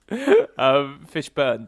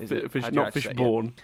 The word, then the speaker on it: Fishburne: That's actually the correct pronunciation. It's like his cousin. Fishburne, did you say? Yeah, not Fishborn.